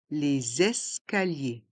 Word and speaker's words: les escaliers: escaliers l'escalator les escaliers dans le mot escalier on fait la liaison avec le S de l' et le E de escalier les escaliers et les lettres I